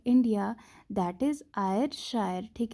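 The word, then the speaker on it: Ayrshire: है India, that is आयरशायर, ठीक है ना। वी कैन प्रोनाउंस इट किसी भी तरीके से, ठीक है ना। AY आयर, SHIRE शायर, ठीक है ना।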